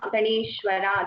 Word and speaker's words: गणेश्वर: Just that sometimes because of the regional language influence, we tend to pronounce sh as sir. Just keep a watch on that. Otherwise, it is okay. It's like Ganeshwara. That sha should be heard clearly.